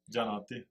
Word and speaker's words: Gianotti: Gianotti.